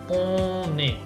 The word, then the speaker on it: on est: Entonces, por ejemplo, esto o N, la N normalmente no se pronuncia, sino que lo pronunciamos por arriba y decimos on, on. pero aquí sí, porque tengo esa unión, ¿no? O liaison, que se llama en francés. Entonces voy a decir on est.